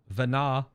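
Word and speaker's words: Venat: sundering happens via vanaz Vana it's hard to put a possessive on Vana when the t is silent right so that's that's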